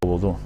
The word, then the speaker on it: vudú: Se pronuncia vudú y se practica en Haití, de donde vino a Luisiana con el nombre de judú.